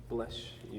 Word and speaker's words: Bleshoux: It's like BLESHOUX. Bless you. Like if you're going to like Louisiana, you know.